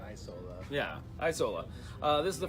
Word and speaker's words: Isola: How do you pronounce it? I've been saying Isola. Say Isola.